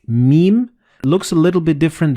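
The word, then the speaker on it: ميم: in the same word, you don't pronounce noon or ba, but you pronounce meme. Like in this example, you read كَلَّا لَيُنبَذَنَّ فِي الْحُطَمَةِ. So the noon and ba, they will be assimilated together and you will pronounce them as meme.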